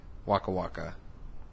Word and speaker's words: Waka Waka: Yeah, so no, that song sounds just like Waka Waka.